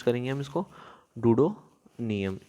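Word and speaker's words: Duodenum: क्या प्रोनाउंस करेंगे हम इसको, डूडोनियम।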